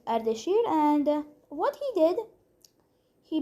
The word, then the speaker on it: Ardashir: Dude, this guy has some problem pronouncing our names, but it's better than all the other English speakers trying to pronounce our names, not gonna lie. This guy was Ardashir, and what he did,